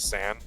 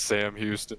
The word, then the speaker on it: Sam Houston: I think it's San. That makes sense in Texas. I'm gonna Google this. I apologize if we've been saying your school's name wrong, Sam Houston. It is Sam Houston. Sam not Houston? Sam Houston. N or M, sorry. Sam.